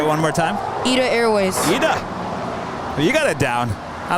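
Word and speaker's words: ITA Airways: southern four seven three you know how to pronounce the new italian airline left there say one more time eat airways you got it down i don't know why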